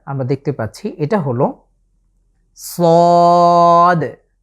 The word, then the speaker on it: ص: সদ, আমাদের পূর্ববর্তী যে যা এবং সিন উচ্চারণ করেছি ঠিক একই জায়গা থেকে সদ এটাকে আমরা উচ্চারণ করব। আবারও খেয়াল করুন, সদ, আমাদের জিভের আগার সামনের অংশটুকু নিচের যে দাঁতের পিঠ আছে সেটার সাথে লাগিয়ে আগার দিকে স্পর্শ করে আমরা উচ্চারণ করব, সদ।